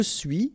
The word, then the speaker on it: suis: Okay, so je suis, final S not pronounced, tu es, okay, so